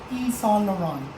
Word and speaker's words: Yves Saint Laurent: So that is This one is Yves Saint Laurent. E. Saint Saint Laurent. Laurent. So silent T yung dulo.